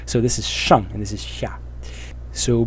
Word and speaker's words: 上: things that are below the ground, and it's pronounced xia. So this is shang, and this is xia.